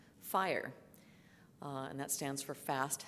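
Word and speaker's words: FHIR: emerging standard from hl7 health level seven called fire and that stands for fast healthcare interoperability resources and I'm imagining there's a few of you going yeah I know fire it's not pronounced for hire and that's basically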